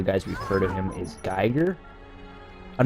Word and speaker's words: Giger: is the pronunciation of Giger's name. I'm pretty sure it is Giger, again, based on the special features. That's how most of the people who've actually worked with him pronounce his name.